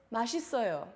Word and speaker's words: 맛있어요: characters are pronounced 맛, is, yo. 맛 is oil. 맛 is oil. Together it's 맛있어요.